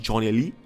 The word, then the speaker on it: Jonelli: It's spelled not G, Jonelly. Of course it's pronounced Johnny, and Rice needs to find him and tell him the truth.